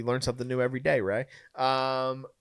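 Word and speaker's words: Rhea: Uh to confirm it is pronounced Ray by the way. So shout out. We learn something new every day. Ray. Um Ray Seahhorn.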